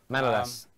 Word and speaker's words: Manolas: how do you pronounce it? Manolas? Yep, Manolas.